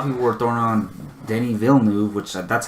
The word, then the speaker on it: Denis Villeneuve: And then a lot of people were throwing on Denis Villeneuve, which that's how you pronounce his name.